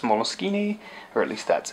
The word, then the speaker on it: Moleskine: I'm using the word mol skin improperly I I know it is an Italian word and it is usually pronounced molini or at least that's its proper pronunciation I just go with mkin and wrong that may